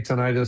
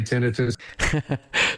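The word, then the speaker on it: tinnitus: Is that how you pronounce it by the way? I was calling it tonitis. Some say tonitis, some say tinitus.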